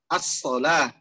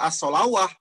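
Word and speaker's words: الصلاة: Misalnya tadi kata-kata as-sholah, ada wawunya, tapi tidak dibaca as-sholawah.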